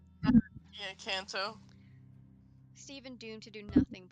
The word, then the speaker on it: Kanto: I'm sorry, I always forget how to pronounce that. Kanto. Yeah, Kanto.